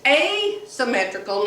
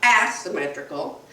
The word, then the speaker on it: asymmetrical: to tell me that it's a symmetrical not as symmetrical i said well it's a-s-s she said no it isn't it's a and it's a long a so i looked it